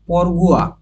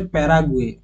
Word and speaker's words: প্যারাগুয়ে: কতটা গুরুত্বপূর্ণ তারপর হচ্ছে পরগুয়া বা এটার উচ্চারণ হচ্ছে প্যারাগুয়ে রাজধানী হচ্ছে আসুন সিয়ন